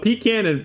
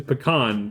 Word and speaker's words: pecan: One of the almond ones is correct, but pecan versus pecan, that's just like a preference thing, right? I think you could say it either way.